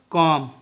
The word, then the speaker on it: comb: उसी प्रकार से नेक्स्ट देखिए, COMB में बी क्या होगा? साइलेंट होगा, क्योंकि ये बी एम के बाद आया है। जब भी एम के बाद बी आएगा तो बी क्या होगा? साइलेंट होगा। ठीक है, तो इसको पढ़ेंगे हम लोग कॉम। ठीक है, इसका उच्चारण करेंगे कॉम।